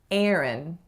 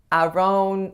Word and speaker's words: Aaron: The first vowel is the vowel air, though I guarantee you'll hear some variation of that specific vowel depending on which region you're living in. And the second syllable is schwa n, or a syllabic n.